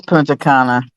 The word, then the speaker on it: Punta Cana: talk his 61 year old grandma yeah it's punta cana yeah old teddy bear five hi there i